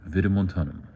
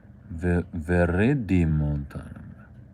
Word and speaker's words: viridimontanum: Adiantum virimontanum. Oh, I've been skipping a syllable. Viridimontanum.